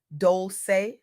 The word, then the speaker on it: Dolce: I'm your host Dolce, pronounced dol-say, like sweet softness whispered in French.